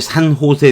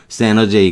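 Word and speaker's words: San Jose: 미국의 산 호세 대학교라고 있죠. 우리가 옛날에는, 스페인어 쪽으로 발음을 해서 산 호세 이렇게 발음한 거고, 여러분은 전혀 다른 대학으로 알고 있죠. 세너제이 그럽니다.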